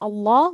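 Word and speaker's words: الله: fatah or a dhamma we would pronounce this allah with a thick sound so we are now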